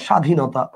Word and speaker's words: স্বাধীনতা: কি বলেন উচ্চারণটা ক্ষীণ যেমন আপনি দেখেন একটু খেয়াল করে দেখেন স্বাধীনতা আপনি খেয়াল করেন বফলা আছে কিন্তু বফার উচ্চারণটা আপনি করতেছেন না আচ্ছা আপনি কি বলেন স্বাধীনতা বলেন আপনি বলেন স্বাধীনতা